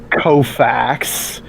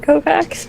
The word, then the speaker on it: Kofax: Pardon, what, Kovacs? Ramir Kofax. Kofax. Is it like Cofax? If you're thinking about buying a used co, first get the Kofax. That is the correct pronunciation and spelling of Ramir Kofax.